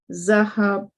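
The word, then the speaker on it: ذهبوا: The alif after the waw is not pronounced zahabu.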